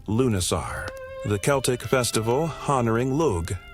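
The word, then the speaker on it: Lughnasadh: Lugnisad pronounced Lunasar, the Celtic festival honoring Lug, the god of light craftsmanship and war.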